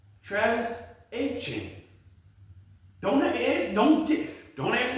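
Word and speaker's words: Etienne: So, all along we've been ever since college, everybody's been calling him Travis Antienne. That is not actually how you pronounce his name. It's Travis Aen.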